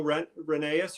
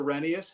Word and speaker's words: Rheneas: Yep, that's yellow Rheneas or Renius, however you choose to say it.